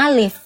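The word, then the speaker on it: ألف: Kalau membaca alif itu bisa jadi olif. Enggak, enggak ada tuntunannya itu dalam dalam ilmu jangan bilang enggak ada tuntunannya. Karena Quran alif itu enggak pernah dibaca jadi olif. Iya, tapi dibacanya alif. Betul.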